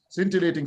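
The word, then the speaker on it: scintillating: pronounce centilating cating yeah some c i n t isting scintilating so s is silent they centilating okay so this is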